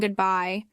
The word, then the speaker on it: goodbye: The letter E at the end is silent.